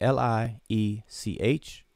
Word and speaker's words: Liech: And if it was written, it would be L-I-E-C-H.